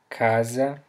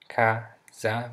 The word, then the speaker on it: casa: Alright, so the letter C, the letter C that begins a word usually sounds like a K in English. For example, we have the word café, which means coffee, so café, alright, the word casa, casa, which means house.